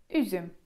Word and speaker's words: üzüm: jak to jest, to układamy tym razem usta, tak jakbyśmy chcieli powiedzieć u, ale mówimy i. U, ü, ü. I przykładem tutaj będzie üzüm, czyli winogrono, üzüm.